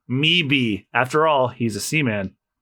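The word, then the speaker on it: Möwe: It's German. It means seagull, and it's pronounced me-be.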